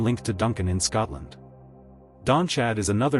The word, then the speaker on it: Donnchadh: Number two, Donnchadh. Pronounced roughly d u n a k u, and that k h sound is that Gaelic throat sound like a soft rasp not a hard K.